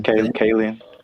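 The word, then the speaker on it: Kaling: know how to say her last name, Kayen.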